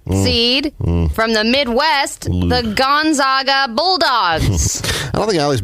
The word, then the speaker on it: Gonzaga: is an 11 seed from the Midwest, the Gonzaga Bulldogs. I don't think Allie's mentioned one team name correctly so far, which is really remarkable. I said Bulldogs, right? You got that part, but... Wow. All right. Gonzaga.